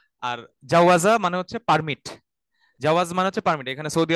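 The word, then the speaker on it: جواز: করতে যাবেন বা এই অর্থ এই শব্দটা শুনেছেন জাওয়াজ আস সাফার জাওয়াজ সাফার মানে হচ্ছে পাসপোর্ট হ্যাঁ জাওয়াজ আস সাফার উচ্চারণটা খেয়াল করেন এখানে কিন্তু আগে জিম পরে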